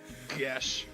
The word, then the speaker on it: geas: Gesh.